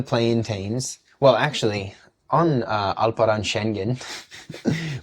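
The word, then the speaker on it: Alperen Şengün: teams well actually on alaran shenen which is how H Hassan AB says his name so that's how I say his name is he maybe not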